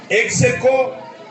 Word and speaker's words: ex aequo: Ex aequo, E-X-A-E-C-Q-U-O. Voilà comment s'écrit ex aequo. C'est écrit ex aequo, mais on le dit ex aequo.